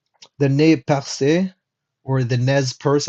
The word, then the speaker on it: Nez Percé: The nez percé, or the nez perce, I'm not sure how Americans would pronounce that, but it's supposed to be pronounced nez percé, which means pierced nose.